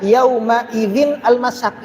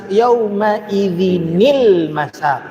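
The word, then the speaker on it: يَوْمَئِذٍ الْمَسَاقُ: Jadi dibaca bukan yauma idzinal yauma idzinil masak. Oh, Ustaz, mana nunnya? Enggak ada nun di situ. Kalau kita enggak pernah belajar, gimana kita khatam Quran tiap tahun baca seperti ini? Berarti kan bacanya ila rabbika di ayat berapa? Ayat 30. Nah, ayat 30 dibaca ila rabbika yauma idzinil, bukan yauma idzin masak.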